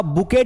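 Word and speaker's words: bouquet: कठिन है है ना लिखा हुआ बुकित दिखे रहा है लेकिन यहां पर 80 साइलेंट है बुके पढ़ा जाए अगला शब्द हमारा है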